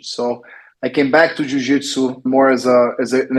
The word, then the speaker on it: Jiu-Jitsu: you spell it it's j-i-u-j-i-t-s-u a lot of English speakers they would use the Zid the last letter of the alphabet and not the J so it's Jiu Jitsu and it's a specific